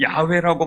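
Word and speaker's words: 야훼: 하나님의 이름인 여호와를 거룩하게 여깁니다.이 여호와 히브리어로 보면 야외라고 발음합니다. 영어 발음이 여호와입니다.이 여호와라는이 야외라는 이름을 부르지 못하고 성경에 성경을 읽다가 야외라는 말이 나오면 아도나이 그러고 읽고 지나갑니다.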